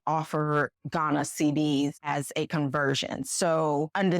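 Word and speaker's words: cedis: is called CD c e d i s pronounce CD now I would normally recommend that you get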